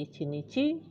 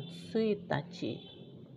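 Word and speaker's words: 一日: Kecuali untuk 1 hari menjadi Ichinichi bukan Suitachi.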